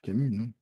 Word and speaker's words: Camus: nom de famille et il prononce pas le s moi non plus jamais albert camus jamais as mais en tout cas